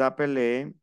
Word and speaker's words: s'appelle: Nous nous appelons, vous vous appelez, il s'appelle, elle s'appelle. Pronuncio hasta la L, appel.